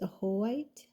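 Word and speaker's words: Ajoite: And then the next one that came out for both of you is the number 30, and it's pronounced Ahoite, compassionate being.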